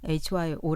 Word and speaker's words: 효: 그 효 실천 운동가들은 효를 hy 오라고 읽으면서 어 그냥 발음 그대로 hyo 라고 읽으면서 이것을 어떻게 해석을 하냐면